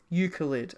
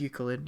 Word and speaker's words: Euclid: God it's a multi-faceted eucalypt oh it's Euclid sorry I I always pronounce it wrong my apologies yes it is Euclid yeah oh my God